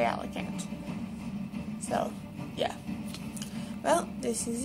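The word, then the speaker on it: Alicante: city alant that's how I pronounce it some pronounce it alante or something like that I say alicant so yeah well this is it and bye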